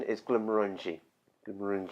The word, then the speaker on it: Glenmorangie: is if you've had a few it's not Glenmorangie or even Glenmorangie I've not actually heard anyone say that what the correct pronunciation is Glenmorangie and maroon G is if you've had a